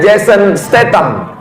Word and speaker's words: Jason Statham: Pagi tadi saya buka handphone, waktu melihat YouTube, halaman pertama berita tentang Jason, tulisannya Jason, bacanya Jason Statham, artis laga, tahulah, mobilnya bagian kap depan dia buat gambar bendera Palestina.